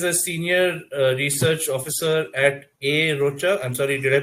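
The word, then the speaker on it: A Rocha: So Dilip is a senior research officer at A. Rocha. I'm sorry, did I pronounce that right? Yes. Okay. A. Rocha, India, which leads a human elephant conservation program.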